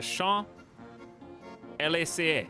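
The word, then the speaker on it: Champs-Élysées: Chat told me how to pronounce this. It's the Champs Élysées.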